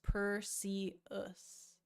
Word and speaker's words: Perseus: Oh, it's pronounced Perseus. Oh, my bad. Perseus. Okay. Not Perseus.